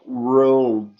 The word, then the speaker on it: world: World. Essa palavra é bem interessante. Separa ela em duas partes para fazer a pronúncia, viu, pessoal?